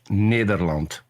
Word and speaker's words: Nederland: Peter, what is the correct pronunciation of your country name? The Netherlands if you want to do it in Dutch, Nederland.